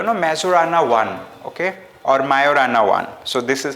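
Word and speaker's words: Majorana: Microsoft like you know mazurana one okay or mayorana one so this is how it is pronounced now this is another question uh question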